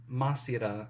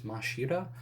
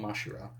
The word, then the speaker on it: Mashira: it I think it's it's spelled masira in the translation here but I think in the anime it was mashira so I don't know I'm gonna call him mashira and I'm and I'm